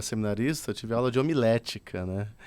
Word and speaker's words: homilética: Se escreve com O? Não, H-O, homilética.